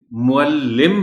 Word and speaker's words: معلم: بھی بتائیے گا کہ لام کے اوپر شد تو بول دی جاتی ہے، مگر اس کے نیچے جو زیر ہے اس کی بجائے عام طور پر زبر کے ساتھ بول دیا جاتا ہے لام۔ سو ہمیں یاد رکھنا